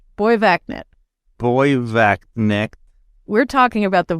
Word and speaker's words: Borgvattnet: So it's pronounced Borgvattnet.